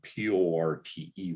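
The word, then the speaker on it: PORTE: five letters for example the p-o-r-t-e waypoint would be pronounced port the published tribe procedures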